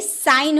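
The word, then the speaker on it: sign: एन से पूर्व यानी कि जी एन से पहले आए तो साइलेंट रहता है। देखिए एन का पहले हम लोगों ने जी लगाया है ना तो ये साइन हो गया।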